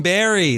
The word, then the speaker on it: Barre: Even berry. There you go. Damon. Oh, you would know that? It took me. You would know that the city Barre is pronounced If berry. he said like the fruit, That's what I couldn't figure out.